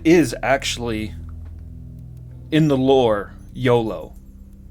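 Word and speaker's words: Iolo: actually in the lore YOLO I believe that is the proper pronunciation and this is going going back a little ways now but it was in one of the manuals of the game talking about the Companions and it gives you pronunciations for the for the characters YOLO is the correct pronunciation I think yeah never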